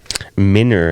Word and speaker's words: Minner: Minner, as they pronounced it.